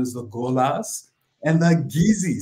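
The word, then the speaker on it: Kissi: the golas and the geezy spell k-i-s-s-i but pronounced geezy sounds a lot like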